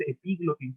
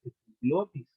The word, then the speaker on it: epiglotis: Estamos hablando de epiglotis, no es epiglotis, no va con acento en la I, ¿vale? Es epiglotis, ¿vale?